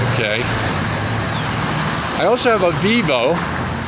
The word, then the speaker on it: Vivo: i also have a vivo also known as fibo in both the philippines and here in ecuador these are pronounced like bees and it's a very